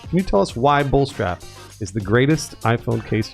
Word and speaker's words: Bullstrap: Bullstrap.